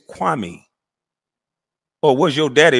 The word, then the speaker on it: Kwame: years you clown and everybody in the world can say my name it's easy it's kwami or was your daddy